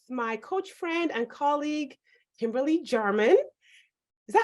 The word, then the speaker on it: Kimberly Jarman: And I have the pleasure of sharing this episode with my coach friend and colleague, Kimberly Jarman. Is that how you pronounce your name?